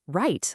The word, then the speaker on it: write: and then you have write, like when you write something down. And that silent W in write is just classic English spelling, isn't it?